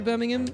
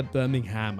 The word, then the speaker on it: Birmingham: Uh, Birmingham. I said Birmingham. So, in in the British accent also, you don't, it's not like Birmingham, Alabama. It's Birmingham. Birmingham. You don't say the You don't say the H.